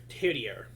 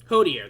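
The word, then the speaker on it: Hoederer: it might actually be Herdier. Fuck, I'm already mispronouncing and forgetting his name. Before I knew it, I found myself trailing behind everyone else. Hodier, there we go. I forgot the ho to it.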